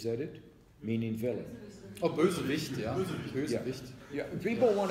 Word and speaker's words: Bösewicht: I won't pronounce it right, but Greg will. It was a Bersowich. Is that it? Meaning villain. Oh, Bösewicht, ja.